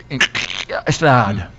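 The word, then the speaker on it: Gstaad: Stad. Okay. Yeah, it's kind of gutter. God. Wow. It's spelled G-S-T-A-D.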